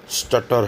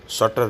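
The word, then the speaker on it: stutter: इसका सही pronunciation स्टटर है, शटर नहीं है।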